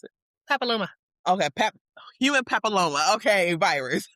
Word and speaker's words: papilloma: test, and that's human papillo how do you pronounce it? Papilloma.